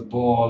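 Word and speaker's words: Bohr: understand but take's method so it's spelled b o h r the bore law or B effect and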